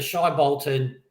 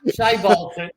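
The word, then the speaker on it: Shai Bolton: So Shy Bolton. See, he's said it wrong already. We're only 2 minutes down. Shay, I did on purpose. Shay Bolton. I'm 50, man. I do it my way. So Shay Bolton.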